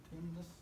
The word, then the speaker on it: Timnath: How's it pronounced? Timnath. Timnath. Okay.